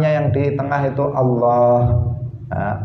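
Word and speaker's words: الله: yang di tengah itu Allah Allah itu panjang ditengah bukan Allah bukan seperti itu tetapi Allah kemudian hanya jangan hilang hanya dalam lafadz Allah itu jangan hilang sebagian orang membacanya Allah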